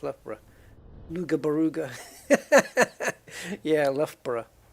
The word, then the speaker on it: Loughborough: That's pronounced Loughborough.